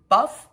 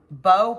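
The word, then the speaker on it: bough: Kay's sample of lilac buff b-o-u-g-h I don't know if I'm saying it right bow bow I say buff because it ends in GH but did this in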